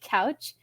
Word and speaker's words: Couch: to confused strangers that his last name is pronounced like a sofa.